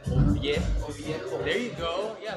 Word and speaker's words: Oviedo: Oviedo. Oviedo. Oviedo.